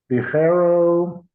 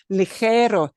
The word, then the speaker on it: ligero: And I noticed that you pronounced this word, which again has got one of those troublesome sounds really, really well. There was no mistake there. Ligero, ligero, see, light.